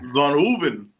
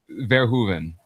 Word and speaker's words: Verhoeven: Wait, well, how do you pronounce his name? Verhoeven. What was I Still not saying? gonna get it. You were putting an N in the middle of it yesterday in the space.